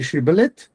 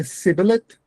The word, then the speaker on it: shibboleth: Those who pronounced it s were enemies and therefore killed at once. So if you say shibboleth, you are a friend. If you say sibboleth, you are enemy.